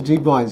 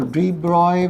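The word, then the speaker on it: de Broglie: according to deroys wavelength so drogley is pronounced as dro right so droy wavelength you guys remember that lambda is equal to h by P that plank's constant divided by the momentum.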